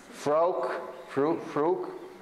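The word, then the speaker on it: Frauke: Yeah, pronounce that so I don't destroy her name. There, this one here. Frouk.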